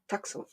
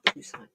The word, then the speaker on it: Tucson: Anyway, it's like somebody calling Tucson Tucson. But you know what? I would never correct them because that's the correct way. That is the indigenous pronunciation. Tucson, not Tucson.